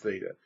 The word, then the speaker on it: theta: represented with a Greek letter theta this is pronounced theta it's kind of written like a circle and